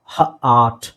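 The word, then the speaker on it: hurt: ಈ ತರ ಬಂದ್ರೆ ಆ ಹಾರ್ಟ್ ಹಾರ್ಟ್ ಇದು ಹರ್ಟ್ ಹರ್ಟ್ ಸೋ ಇಲ್ಲಿ ನೋಡಿ ಅ ಬಾಯಿನ ಓಪನ್ ಮಾಡೋದಿಲ್ಲ ಹ ಅರ್ಟ್ ಹರ್ಟ್ ಹರ್ಟ್ ಅಂದ್ರೆ ಗಾಯ ಆಗೋದು ಅಥವಾ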